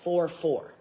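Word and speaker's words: Furfur: It's spelt like fur, but it's pronounced 4-4.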